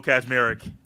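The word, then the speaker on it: Kaczmarek: Kazmarek. And there is not a Z right there. It's K-A-C, but it's Kaz.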